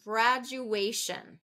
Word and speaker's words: graduation: reduce to today okay graduation graduation this one is thir first and third syllable stress so graduation graduation so third syllable is getting most of that energy and last one rainbow